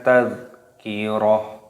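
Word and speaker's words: تذكرة: Dan di sini karena waqaf, karena di sini tak marbutoh, tak yang bentuknya lingkaran seperti ini, maka dibaca ha. Kita baca kembali. Kalla innaha tadhkirah.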